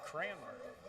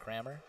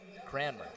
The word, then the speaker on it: Cranmer: So it'd be Cranmer. What have I been saying? Crarmer. Cramer. Cranmer. There you go.